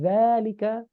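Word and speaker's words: ذلك: Falil asma'i min dzalika, meskipun di sini nggak ada alif lurus, tapi di sini bacanya panjang ya. Min dzalika ar-raf'u wan nasbu wal khafdu wala jazma fiha.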